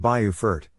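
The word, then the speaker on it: Beaufort: Now to the Carolinas where affordability meets coastal charm in Bufort, South Carolina. Pronounced Bayufort, this low country town of just 13,000 residents feels timeless.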